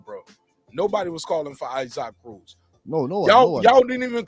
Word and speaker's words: Isaac Cruz: would call him isaac isaac cruz let's be clear we won't call him ice hock cruz we want to call him his name with the proper pronunciation now he oh come